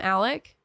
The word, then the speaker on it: Alex: name is Alexander but they call him Alec but it's spelled Alex it's annoying wait oh